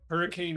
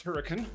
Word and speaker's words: Hurricane: yeah, the locals pronounce Hurricane, and there's a big old mesa, Hurricane Mesa, right next to the town.